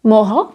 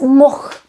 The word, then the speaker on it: mohl: vowel at the end, the natives, including me, sometimes leave out the last letter, which is the L. Mohl is pronounced as moch.